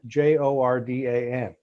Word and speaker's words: Jordan: chief of staff hamilton jordan last name spelled j-o-r-d-a-n pronounced jordan in charlotte north carolina and i think